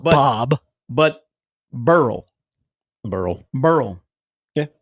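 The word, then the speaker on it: Beryl: got we got Barrel I think people are pronouncing it incorrectly I think it's Burl I think it's Burl too but they like to say barrel and I don't think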